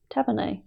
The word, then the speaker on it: tavernae: Tavernae. Really? That's what that says, tavernae. Yes, you can put your glasses on to read it, because I pronounced it correctly.